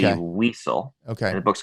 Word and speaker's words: Wiesel: called Night by Elie I believe you pronounced his name bezel but Elie Wiesel okay the books called